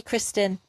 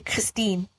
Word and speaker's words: Kristin: bloody great at this my mum called me kristen but because i was born in germany it was immediately changed to christine because that's how they pronounced the word kristin and then when i